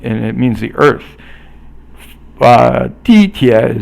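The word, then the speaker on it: 地铁: 地铁 is 四声 or falling, and 铁 is 三声, and it means the subway.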